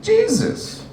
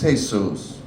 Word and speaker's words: Jesus: I'm talking about the pronunciation, okay? If it's all holy and wonderful, it's Jesus. If it's holy shit, it's Jesus.